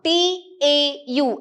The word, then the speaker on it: tau: So now torque is given by tau, T-A-U. It is pronounced as tau, okay.